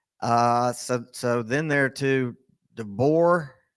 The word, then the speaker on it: DeBoer: So then there to DeBoer. Is that how you say it? I can't get his name right. Yeah, It's DeVore. DeBoer.